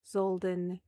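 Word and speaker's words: Zolden: High Fae King, Zoldan Taval. High Fae Queen, Celestina. Hollows Taval. Zoldan Taval. Zoldan Taval. Okay. Think like Zoldan. D-E-N. Den.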